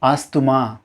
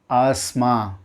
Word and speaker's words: asthma: ஆஸ்துமா. ஆஸ்துமா இது தவறான உச்சரிப்பு. இதை எப்படி உச்சரிக்கணும் அப்படின்னா ஆஸ்மா.